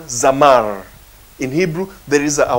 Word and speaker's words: zamar: Yeah, and it's spelled Z-A-M-A-R. Z-A-M-A-R. And it's pronounced zamar. That is, it's pronounced as Z-A-W-M-A-R.